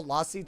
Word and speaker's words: lassi: Oh, I guess I should say lassi. Well, because when I speak with an American accent, it's lassi. But when I speak with... It's supposed to be pronounced lassi. It's mango lassi. I know. But, like, almost like a UH sound.